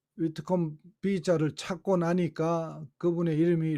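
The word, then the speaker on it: Whitcomb: 위트컴 해가지고 마지막에 B자가 묵음인데 이 묵음 글자 하나 빠져가지고 너무 고생했어요. 하여튼 이 위트컴 B자를 찾고 나니까 그분의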